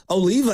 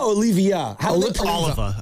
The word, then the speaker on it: Oliva: Well, the proper pronunciation if we kind of go espanol over here. It's Oliva, but it's he's pronouncing it Oliva.